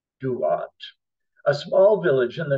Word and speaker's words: Thuột: Viet Thanh Nguyen was born in March of 1971 in Ban Mê Thuột, or Duat, spelled T-H-U-O-T, Duat, a small village in the north of Vietnam.